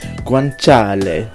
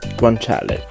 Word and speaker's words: guanciale: thanks to YouTube I looked it up it's pronounced guanciale so there you go guanciale which is a cheek lard or cheek let's